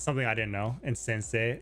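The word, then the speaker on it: 先生: I think there's still a subtle E sound. You feel like there's an E sound there? Yeah, Sensei. Sensei. Yeah, it's like a short E at the end.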